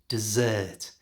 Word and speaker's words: dessert: check the pronunciation of dessert because it's easy to get it confused with desert for the food category put all of the stress at the end of the word dessert and for the Big